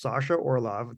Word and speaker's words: Sasha Orloff: my guest today is Sasha Orloff. Did I say it right this time? You did. You got it. Nailed I said the non-Canadian way.